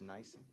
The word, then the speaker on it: NIBIN: I'll put this in writing just for ease, but on it's pronounced nice.